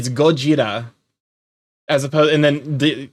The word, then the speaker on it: Gojira: It's kind of like how Godzilla is actually Gojira. It's just we added Americanizations to it.